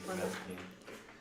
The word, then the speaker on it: Mazikeen: Mazikeen. Broken down as Maz.